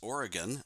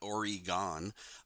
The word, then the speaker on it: Oregon: the Oregon Bill and by the way it's pronounced Oregon not Oregon I grew up there so I know but